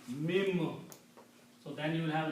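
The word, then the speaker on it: من: So this will be pronounced as not min, mim.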